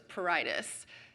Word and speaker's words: pruritus: If you want to be really fancy, you can add that subtle R in the purr, but it's barely pronounced at all, so it's pruritus. And honestly, most people just leave it out.